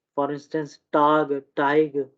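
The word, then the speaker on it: Teig: ये for instance टाक, ये टाग नहीं होगा, टाक, ठीक है, टाइक, सुक, ठीक है।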